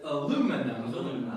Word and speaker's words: aluminum: way uh it's interesting both of you all pronounce it like the british express i pronounce it aluminum aluminum no big deal